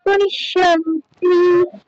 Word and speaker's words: পশ্যন্তি: বাড়ির কাজেও আপনার হয়েছে, ইও এর উচ্চারণ পশ্যন্তি, পশ্যন্তি নয়, পশ্যন্তি। ঠিক আছে, না না না, পশ্যন্তি নয়, পশ পশ তারপর যন্তি, পশ্যন্তি। হ্যাঁ, পশ্যন্তি, এটা ওই খেয়াল করে উচ্চারণ করতে হবে কোথায় জফলা আছে।